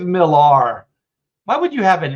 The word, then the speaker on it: Millar: is really PR yeah I always thought Millar because it's got a a but yeah it's just Miller he says Miller uh but he doesn't